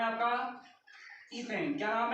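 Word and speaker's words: ethane: इसका नाम है आपका ईथेन। क्या नाम है? ईथेन है। इसे हिंदी में भी प्रोनाउंस क्या करते हैं? एथेन करते हैं।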